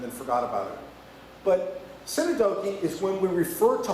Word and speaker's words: synecdoche: So the big word is pronounced synecdoche. I prefer to call it synecdoche, but that's just because I'm from New England and I can't pronounce things.